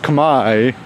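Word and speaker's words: Khmer: It's funny because it's spelled kamur but it's pronounced kami like k a m a i.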